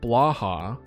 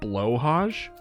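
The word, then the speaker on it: Blåhaj: Ikea plush toy shark Blaha blahaj Swedish pronunciation bloj blue shark qually angelized as Blaha blah oh so just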